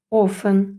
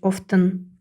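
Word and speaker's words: often: ж саме хассен пристібати часто офен а не кажуть Офтан офен і пом'якшувати софин літера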